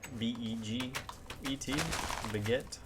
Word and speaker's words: beget: one will kind of beget the other. Not baguette, not like these, but B-E-G-E-T, beget.